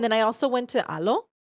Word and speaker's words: Alo: You could tell that it's made for like very little bodies almost and like um I have a few aloe sets from before.